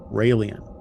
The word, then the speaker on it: Raëlian: Raëlian. It's spelled R-A-E with a little two little dots above the E, L-I-S-M.